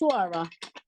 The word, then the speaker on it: Ash-Shura: No, I don't know Ash-Shura. what that line over here Yeah, is. yeah, same. That's why I was like, I'll pronounce. Ash-Shura.